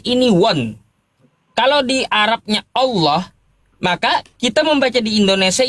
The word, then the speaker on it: Allah: Oh, itu karena tata kaidah ya akar kita mengambil kosakata Allah di Arab ini memang tebal. Ada kaidahnya apabila diawali dengan fathah atau domah maka dia tfhim Allah gitu pengucapannya bukan Allah. Bukan Allah.